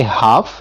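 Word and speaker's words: half: इसी तरह से हम कहते हैं कि हाफ, जिसका मतलब होता है आधा, उसमें भी हम जो लेटर एल होता है उसको हम साइलेंट रखते हैं, ठीक है।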